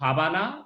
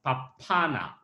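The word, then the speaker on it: 밥 하나: And the pronunciation is not pabana, but papana.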